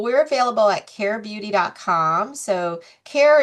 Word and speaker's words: Caire: So, care is not spelled c a e or c l a i. It's spelled c a i e which is care with an i in the middle.